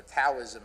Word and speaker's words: Taoism: Taoism, or Taoism as we now pronounce it, in fact, encourages us to embrace